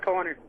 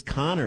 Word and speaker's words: Conor: Vancouver Vancouver and then this guy Connor c n n o r I'm gonna tell him how to pronounce his name Connor and Edmonton calls up and again he was so upset that we were mispronouncing the way that his name was correctly spelled listen to this Conor what's happening brother con this is Conor oh hey I thought it was Connor you said Conor no Conor Conor yeah